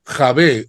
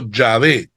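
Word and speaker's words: Yahvé: vocales jh W H Nosotros le pusimos una e y una a y pronunciamos Jehová la Iglesia Católica Perdón pusimos e o a Je va mientras que la iglesia católica puso una a y una e pronunciando javé o yavé no pero que dijimos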